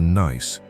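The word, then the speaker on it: gneiss: Los geólogos la llaman gneis lewisiano. Pronunciado nice.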